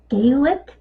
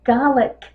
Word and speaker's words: Gaelic: The language is either Gaelic with a long A or Gaelic with a short A.